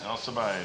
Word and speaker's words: Alcibiades: Is that how you pronounce that? Alcibiades.